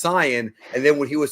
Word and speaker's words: Saiyan: is years ago and he would say super saiyan and I'm like no it's Canan and then when he